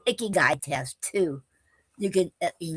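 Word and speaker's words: ikigai: Ick as in kiss. That's what they wrote down when you look in the how you pronounce it. And k i k is like like wait if I remember right. And oh k is like key.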